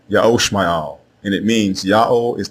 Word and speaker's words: Ishmael: The correct way to say the name of Abram's firstborn son is not Ishmael. It is Ya'o Shma'al, Ya'o Shma'al, and it means Ya'o is the God who hears.